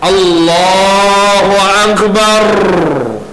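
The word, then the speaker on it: الله أكبر: baik dan yang kedua jangan dipanjangkan Alif tu disebut dalam masalah 41 ni di Alif pada perkataan Allah ataupun pada perkataan a Akbar jangan dipanjangkan Allahuakbar jangan dipanjangkan sebab dalam bahasa Arab ini huruf itu juga kadang-kadang mewakili huruf pertanyaan asal dia hal tapi dalam bahasa Arab dia jadi Alif pun dah dikira sebagai alat tanya allahubar Adakah Allah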